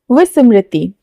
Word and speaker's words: विस्मृति: ब नहीं बोलना है। व बोलना है। विस्मृति।